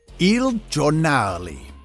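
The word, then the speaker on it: Il Giornale: left Starbucks to start his own coffee shop e jali yes that's how you pronounce it don't fight me on this anyway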